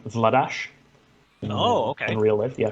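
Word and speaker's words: Vladař: They're heading into this with, we're going to go with Vladar, but I believe he actually pronounces his name Vladash.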